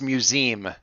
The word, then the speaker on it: museum: museum for some reason she pronounces it with two syllables and no you and i don't know why oh no how museum it's museum she goes to see